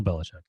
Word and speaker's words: Belichick: Bell Belichick.